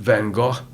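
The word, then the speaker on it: Van Gogh: Japanesema is what what stimulated Van Go.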